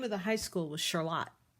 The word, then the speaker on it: Charlotte: My brothers and I all went to high school, and the name of the high school was Charlotte. I didn't know everybody else pronounced that word Charlotte until I was an adult, and I said something weird like Charlotte's Web, and everybody laughed at me.